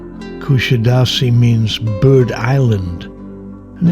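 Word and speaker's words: Kuşadası: The name is pronounced Kushidasi in Turkish as the first S has an accent.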